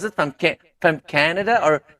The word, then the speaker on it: Canada: From Canada or Canada? Canada. Canada. Canada. Okay. The stress is on the first syllable. A can, as in can and nada.